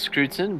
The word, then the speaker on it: Scruton: how are you doing it's pronounced scrutin but don't worry I'm quite used to my surname being butchered uh puberty